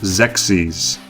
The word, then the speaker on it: Xexyz: Okay, it's pronounced Xexyz.